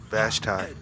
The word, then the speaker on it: Vashti: Vashti.